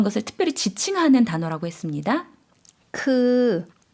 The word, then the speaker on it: คือ: คือ 좀 길게 발음해 주시면 되겠죠? 그라고 해주시면 되고요.